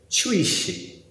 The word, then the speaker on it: 槌石: If you ask Google what in Chinese a hammer stone is pronounced like, it will say Chishi. Chui-shi, shi meaning stone, chui meaning hammer, Chishi.